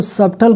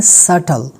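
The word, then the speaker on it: subtle: silent होगा जैसे कि ये आप शायद इसको सबटल कहेंगे लेकिन ये क्या है सटल क्या है सटल इसके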